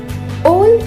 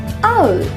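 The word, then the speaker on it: owl: ओल इसका गलत उच्चारण है। इसे सही से बोलने के लिए पहले बोले आ, फिर जोड़ दें उल, जोड़कर बोलिए आउल।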